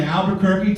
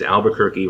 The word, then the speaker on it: Albuquerque: in my head as Albuquerque rhymes with turkey and I just remember